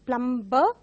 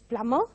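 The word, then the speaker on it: plumber: which are which are having silent letters mostly mispronounced as a plum plum bur but it is Plummer and the next word goes by the spelling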